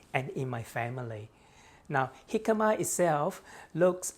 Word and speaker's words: jicama: Jicama originally comes from Mexico and it is a Mexican Spanish word, jicama.